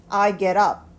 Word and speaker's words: get up: I get up 이라는 단어지만 연결해서 한 덩어리로 읽으면 I get up 이렇게 됩니다. 자, T 발음이 어떻게 돼요? 거의 리을 발음처럼 연결이 되고 있죠?